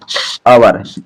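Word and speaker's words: hour: और देखिए जैसे an apple, an application, an आवर, आवर, इसकी स्पेलिंग वाली एच से स्टार्ट है, लेकिन इसको इस प्रकार लिखा जाता है आवर, यानी घंटा होता है।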